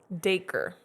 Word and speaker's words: Dacre: How do you pronounce it? I forgot already. Hold on. Dacre.